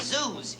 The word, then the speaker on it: Zeus: See, his last name is Zeus. You know, it rhymes with booze.